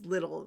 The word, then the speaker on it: Liddell: When he was with I'm saying their name wrong too. It's Little, like fiddle.